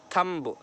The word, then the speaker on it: thumb: दिख रहा है आपको अंगूठा, थंब के माना होता है, हम इसको थंब नहीं बोलेंगे, बी साइलेंट है यहाँ पर।